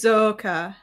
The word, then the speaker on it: Roxa: think you like Roka you pronounce it kind of like a hard s like a hard S R the X turns into like an S yeah Roka it's a fantasy language